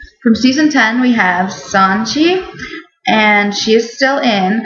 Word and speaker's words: Sonjia: and on the show they call her Sonjia, but I really like Sonia. That's how this name is like traditionally pronounced, and I like that better.